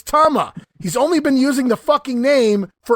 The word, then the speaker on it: Tama: Powers while Jessie Ventura continues to pronounce the name it's Toma as gorilla finally corrects Jesse on the pronunciation no Jess it's Tama he's only been using